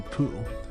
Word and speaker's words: Poo: panoramic Coastal views of poo it's pronounced po that said and I